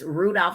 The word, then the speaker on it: Rudolph: So if you're ever wondering what is my last name, because you don't hear it, so it's Rudolph like the reindeer.